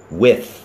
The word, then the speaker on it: with: ฟัน บน และ ลิ้น ดัง นั้น w i t ออก เสียง ว่า with with ลอง พูด ที่